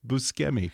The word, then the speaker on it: Buscemi: I did that to Steve Buscemi just the other day as well, which apparently is supposed to be pronounced Buscemi. Yeah, because it's different than in English.